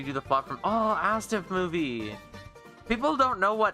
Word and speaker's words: ASDF: Not Astif. Astif. With a D. Astif. ASDF movie. Astif movie. That's how they pronounce it inside of the movie itself.